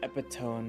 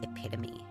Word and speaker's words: epitome: were divided and dissected in even further the epidone of inhumity. Um, actually it's pronounced epitome.